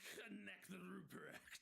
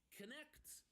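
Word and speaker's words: Knecht: silence it's k-n-e-c-h-d but you do pronounce both the K and the N because German is horrible correct um except make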